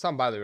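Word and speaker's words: Tom Bilyeu: Technology is a one-way street, like Tom Bilu says. It's Tom Bilu, right? Yeah, that's how you say it.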